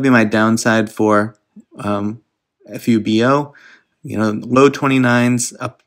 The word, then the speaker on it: fubo: take a look at fubu fubo sorry i always um say it wrong before i say it right but fubo you know my red